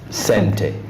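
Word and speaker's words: Xente: uh though I've been told by Lynn the pronunciation is sente yes okay so it Center meaning money in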